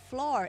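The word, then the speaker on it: Floureon: It's called Florian, which is spelled F-L-O-U-R-E-O-N. Flour. It's like what you put in your cake.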